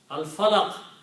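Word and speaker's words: الفلق: Al-Falaq, al is pronounced because fa is not a Shamsi letter.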